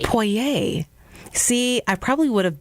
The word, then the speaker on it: Poirer: on names that like it sounds French it is French and it's pronounced poer poer see I probably would